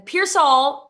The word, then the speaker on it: Pearsall: And then Pearsall is spelled pears like the fruit, all like the word.